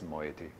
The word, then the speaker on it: moiety: often described as moieties with luck I am pronouncing that correctly my wife no doubt would tell me I'm not since she often does but I think it's moiety so we would talk